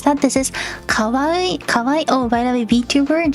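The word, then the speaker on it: かわいい: bringing up a topic uh how to pronounce that this is Kaw Kawai oh by the vtuber in Japanese is Kaw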